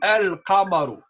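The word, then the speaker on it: القمر: And Al-Qamariya is the lam now where El is said as well. Okay? Al-Qamaru.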